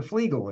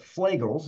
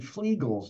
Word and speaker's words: Flegel: ago at the international catology and and Dr flegel was there he actually was at the conference and he uh they announced him as as Dr flegel and he saides that's the way you pronounce my name so uh if that's the